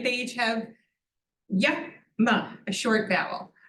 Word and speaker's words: yama: They each have yama, a short vowel. When you have 2 short syllables, you put the emphasis at the beginning, yama.